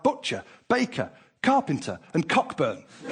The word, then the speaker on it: Cockburn: butcher, baker, carpenter, and cockburn. Of course, they insist on pronouncing it cobburn, but we know the truth.